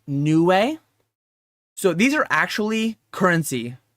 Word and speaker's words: Niue: So these are, I believe it's pronounced Niue.